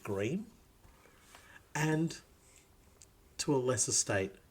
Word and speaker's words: Greim: we are talking about house Grime or as they like to pronounce it gream and to a lesser